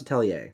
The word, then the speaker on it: Atelier: It's a French word, so I believe it's pronounced Atelier.